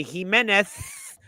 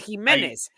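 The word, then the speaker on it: Jiménez: say he menth and they add the Theta from Spain but he's Mexican you don't do that his name is himz stop trying so hard and say his name correctly you're being offensive to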